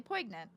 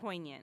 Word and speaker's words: poignant: was like this is really poyant how do you say that poignant poignant Jesus Christ we we